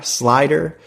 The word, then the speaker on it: SLIDR: search for slider now make sure that you spell it correctly there is no e so it's s l i d r slider you'll find it in the app stores on